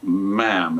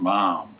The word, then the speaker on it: ma'am: We were told how to say, the official word was ma'am, and it wasn't mom or anything else. And they told us to pronounce it like jam.